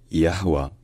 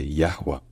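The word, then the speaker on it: Yahweh: En général, le consensus, c'est que dans l'hébreu biblique ancien, ça se disait Yahwa, Yahwa, Yahwa. Donc le H au milieu était bel et bien prononcé Yahwa.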